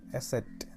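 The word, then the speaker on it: Eszett: പിന്നെ വരുന്നത് ഈ ബീറ്റയുടെ ഒക്കെ സെയിം പോലത്തെ സാധനം കണ്ടോ, അത് എസെറ്റ് എന്നാട്ടോ പറയാൻ, എസെറ്റ്, സ് എന്നുള്ള ഉച്ചാരണം.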